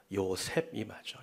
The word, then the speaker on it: 요셉: 여러분, 요새는 헬라식 발음이고 헬라식 발음을 히브리식 발음으로 바꾸면 뭐가 될까요? 요셉이 맞죠?